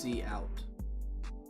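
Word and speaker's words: cout: a character output stream this is pronounced C out but a see out gr is an operator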